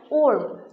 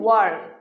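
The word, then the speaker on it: worm: আমরা অনেক সময় ওর্ম ওর্ম উচ্চারণ করে থাকি, কিন্তু এই ওর্ম উচ্চারণটি ভুল। এই সঠিক উচ্চারণ হচ্ছে ওয়ার্ম।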